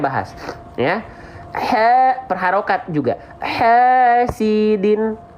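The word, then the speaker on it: حاسد: Hasidin. Bukan hasidin banget, jangan pakai D, tapi pakai dal.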